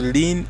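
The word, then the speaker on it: ln: log so this Lin this is pronounced as the lien its meaning natural log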